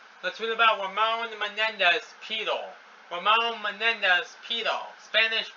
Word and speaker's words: Pidal: Let's read about Ramón Menéndez Pidal. Ramón Menéndez Pidal, Spanish pronunciation.